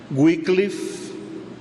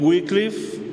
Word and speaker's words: Wycliffe: El primero que les voy a mencionar es John Wycliffe. John Wycliffe se escribe W-Y-C-L-I-F, Wycliffe.